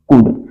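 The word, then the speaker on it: could: ठीक है, बहुत सारे इसको बोलते हैं कुल्ड, तो कुल्ड नहीं है, यहाँ पे जो है हमारा एल जो होता है साइलेंट होता है। ओके, तो इसलिए हम इसे बोलते हैं कुड।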